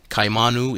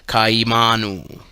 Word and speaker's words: kaimanu: Kaimanu is pronounced kaimanu. Or if spoken rapidly, the two initial vowel sounds slur into kai, rhyming with high.